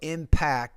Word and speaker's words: impact: You want to pronounce that with more air with the P. So impact, it can really impact my score.